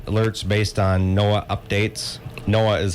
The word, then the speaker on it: NOAA: NOAA is how they pronounce it.